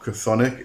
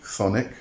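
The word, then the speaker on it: chthonic: as a pre- Olympian thonic deity uh I was actually corrected on on the pronunciation it's not cthonic it is actually thonic um the CH is very very silent it's it's it's almost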